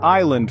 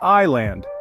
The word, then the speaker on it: island: a little more elusive the word Island for example contains a silent s it's not is land but I land similarly the be in